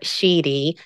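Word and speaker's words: síd: What I pronounce as sheedy is spelled S-I-D-H-E, and sheed is S-I-D.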